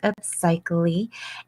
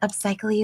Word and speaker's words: Upsychelly: So, what we're basically doing is we are spending some time together with Upsychelly, and Upcychelly is pronounced psych. LE. It sounds like upcycling without the NG.